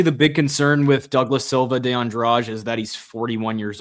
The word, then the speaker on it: Douglas Silva de Andrade: Douglas da Silva Andrade versus Javier Reyes. Silva de Andrade, excuse me, I should pronounce it like that.